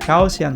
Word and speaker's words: Gaussian: Terus cari Gaussian blur. Bacanya bener nggak ya? Gaussian blur. Kita tanya ke Mbak Google. Gaussian blur. Ternyata benar, Gaussian blur.